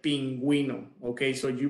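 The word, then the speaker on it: pingüino: be silent okay but they are going to be pronounced if they have the little dots they're called deesis in Spanish uh such as like pinguino okay so you pronounce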